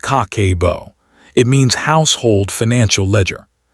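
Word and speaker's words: 家計簿: Habit number one, the cake pronounced kakebo.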